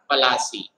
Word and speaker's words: Plassey: इसलिए पलाश से बन गया पलासी, और पलासी का जब ब्रिटिशर्स ने यूज किया तो बना दिया उसको प्लासी, है ना।